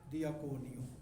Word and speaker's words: diakoneo: हम कह रहे हैं ना खिदमत दियाकनोस है, तो इसका जो रूट है वो क्या है, दियाकोनियो।